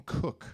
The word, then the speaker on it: Koch: How do you say your name? It's Cook. They'd still get it wrong, though. But people just want to say, Koch. Koch.